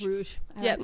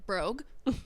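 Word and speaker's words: Bruges: how to pronounce it BR in Belgium Bru like Rouge like brou well that's okay because I WR I read it as like Rogue so I was like brogue no brogue no BR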